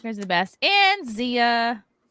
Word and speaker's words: Xia: And Zia. You can find me at Zia or. It's spelled XIA_land on Twitter and Instagram, and then everywhere else.